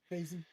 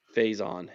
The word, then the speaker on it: Faison: Fasin. Faison is how it's pronounced.